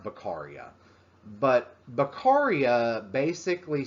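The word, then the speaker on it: Beccaria: going on and so bakaria or beckeria or however you want to say it it's pronounced bakaria but bakaria basically says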